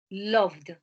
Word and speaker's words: loved: last one is v v so you pronounce d loved listen the pronunciation is d loved loved loved loved okay here remember